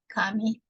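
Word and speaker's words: 紙: And etymology of paper, just for your knowledge, the Chinese character pronounced in Japanese like kami, and this is a combination of thread and flattened.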